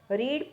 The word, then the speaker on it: read: Sentence देती हूँ, जैसे रीड है, ठीक है. रीड प्रेजेंट टेंस में हम उसको बोलेंगे रीड, पास्ट टेंस में हम बोलेंगे रेड. Spellings are the same but the pronunciation is different.